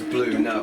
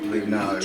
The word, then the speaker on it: Bluno: I mean, let's pronounce it as blue no and not blue nose.